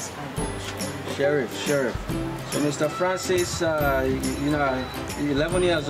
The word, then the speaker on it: Sheriff: Sheriff.